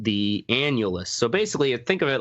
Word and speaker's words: annulus: Annulus. I had to look it up how it's spelled because I just kept it writing analus.